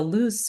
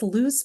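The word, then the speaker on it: luz: each of us has what's known as a loose bone. A loose bone located along the spine. In English, it's spelled l u z, meaning nut or almond or hazel.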